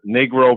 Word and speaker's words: negro: of the shoes was Negro brown. Now, come on, Mr. Ivey. We all know that in the Spanish language, the word for the color black is spelled Negro, and it's pronounced negro.